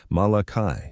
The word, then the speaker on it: Malachi: He pronounced it Malachi, three distinct syllables.